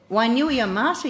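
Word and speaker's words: Wainuiomata: Wainui Amata, you said, where's that? Across the water, straight on till morning. Did I say it right? You did.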